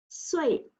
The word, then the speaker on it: 水: Since it's fourth tone, you need to count until fourth tone, okay? 水, 水, 水, 水. Yes, correct, it's 水.